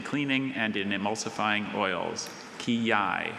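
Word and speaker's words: quillai: Kiai. Kiai. May I please have any alternate pronunciations?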